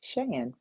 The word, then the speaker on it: Chan: this Chan blue yes CH pronounced sh Shan Shan blue okay Miss Shan